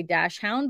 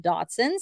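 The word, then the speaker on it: Dachshund: a uh Datsun I always want to say dash hound but it is pronounced Datsun so yay for me I got it right I think I said it right it's from 2006.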